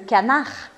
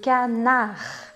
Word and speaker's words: canard: bem importante, que é a letra D ao final das palavras que a gente não fala. Então fica le canard. A gente para o som no R. Le canard.